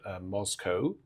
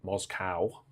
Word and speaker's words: Moscow: But it's Thou Whose Almighty Word, to the tune Moscow, as it ought to be pronounced, not Moscow.